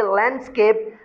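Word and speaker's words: landscape: है, compound word है, तो इस वजह से डी आप साइलेंट कर देंगे।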